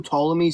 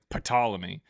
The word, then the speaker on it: Ptolemy: There was someone who came up yesterday and was like Ptolemy and I'm like the P is silent and he kept saying it weird.